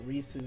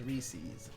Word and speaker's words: Reese's: Because they're trying to say that like Reese's is the proper pronunciation. I've always seen it as Reese's.